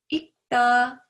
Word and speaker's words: 읽다: In case of 리을 and 기역 받침, 기역 should be heard as a 받침 when it comes next to 다. However, if it is conjugated with other verb or adjective endings, the 받침 should be heard with the sound of 리을.